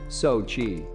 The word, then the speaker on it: Xochitl: the name zachitl is pronounced sochi gomez lived in hollywood